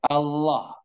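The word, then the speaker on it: الله: Nah, diperhatikan cara mengucapkan Allah, A-nya tipis A, kemudian la. Nah, jika Allah. Allah, Allah tanpa memajukan kedua bibir, bukan Allah, bukan.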